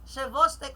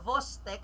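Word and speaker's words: Chvostek: So, Chevostek naman, Chevostek or Vostek, sabi kasi daw, it's pronounced as silent C, tsaka dapat Vostek sign.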